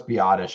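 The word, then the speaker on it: Biadasz: I know they brought back Mac, and then you have I know it's Biotish. I like to call him Tyler Badass. That's because I didn't know how to pronounce it years ago.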